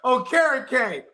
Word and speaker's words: Okereke: Then when they come, somebody's like, hey, by the way, it's pronounced Okereke, motherfucker.